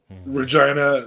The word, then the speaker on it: Regina: just purely in calgary regina rhymes with vagina mangina yeah i was